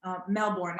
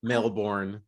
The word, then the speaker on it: Melbourne: So first, you're joining us from Australia now, Melbourne. That's how you pronounce it, or is it Melbourne?